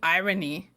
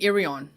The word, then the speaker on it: Irion: name get it right it's not Naomi irony it's Naomi irion okay dude already there